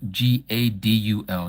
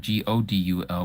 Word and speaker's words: Gadul: Gadul, not Godul, but Gadul means great.